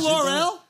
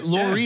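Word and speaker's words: L'Oréal: You know Laurel? That's my girl. I love L'Oreal. Okay, L'Oreal.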